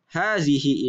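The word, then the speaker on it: هذه: yang ini habisin hadihi walaupun secara tulisannya huruf H tidak panjang akan tetapi secara bacaannya dibaca panjang Haze hihi.hd C nah Apa arti Hai by ternyata hadzihi ini artinya sama dengan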